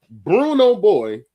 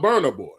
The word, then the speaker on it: Burna Boy: Now, it ain't just your fault, but trust me, I was very tickled watching me say "Bruno Boy" knowing damn well you was talking about Burna Boy.